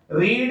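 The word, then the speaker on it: read: तो लेकिन रीड, रेड, रेड ये फॉर्म तो वही होती है, सिर्फ प्रोनाउंसिएशन चेंज हो जाता है, स्पेलिंग वही की वही रहेगी।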